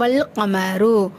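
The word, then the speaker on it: والقمر: வல் கமரு, அதாவது அலிஃபை நம்ம விட்டுட்டோம், லாமுக்கு மட்டும் மதிப்பு கொடுத்து ஓதுறோம், அதை தான் வந்து வல்கமரோ அந்த லாலிஃபை விட்டுட்டு ஓதணும்னு சொல்லி சொல்லியிருக்காங்க.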